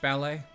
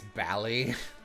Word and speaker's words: ballet: The Novovich Ballet? One of my favorite obscure... I don't know if it's British necessarily, but a couple accents in the UK pronounce it this way. Instead of ballet, it's bally.